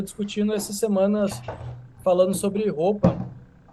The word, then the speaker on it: Hoppe: essa semana falando sobre roupa o filósofo economista Liberal ele libertário né aquele nome que se escreve hoppe em alemão se fala roupa exatamente não é roupa